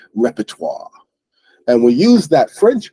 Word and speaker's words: repertoire: end it's not exactly how French people say it but we're not good at the French accent so we just basically we've reduced it to the word repertoire and we use that